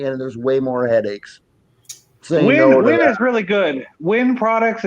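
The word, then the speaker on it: Wiwen: Spell it. Oh, W-I-W-E-N. Win.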